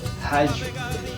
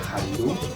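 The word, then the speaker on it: hallu: Es hayu, ¿ya? H-A-L-L-U. Hayu, ¿ya? Hayu. ¿Ya? No se pronuncia halu, no se pronuncia hayu, ¿no? Hayu, ¿ya? Escuchen muy bien. Hayu. ¿Ya? La escritura es H-A-L-L-U. La pronunciación es hayu.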